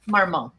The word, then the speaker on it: Marmont: Marmont.